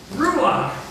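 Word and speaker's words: רוח: that good job Ru you got to say it like you're spitting on the end Ru R ruach wind breath and spirit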